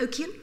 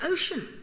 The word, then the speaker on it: ocean: the end ambitious ocean we don't say the oan we've got the ocean you got to know that you got to know it's ocean is spelled like that otherwise not going to